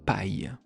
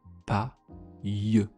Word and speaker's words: paille: Ou alors on peut le faire avec I, de L e comme dans les mots une paille. Une pa une paille une paille. Il y a le son ye à la deuxème syllabe.